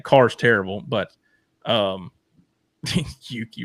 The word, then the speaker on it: Yuki: is terrible but um Yuki rhymes with dookie.